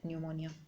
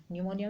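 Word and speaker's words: pneumonia: रखना है प्लेटें और निमोनिया निमोनिया में पीस साइलेंट होता है वही स्पीड यानि कि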